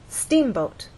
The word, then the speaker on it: steamboat: In steamboat, you will either look in a dictionary and see that the first syllable is stressed, or hear people speak and they'll say steamboat.